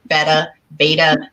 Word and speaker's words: betta: See, I always call them betas, but it's beta.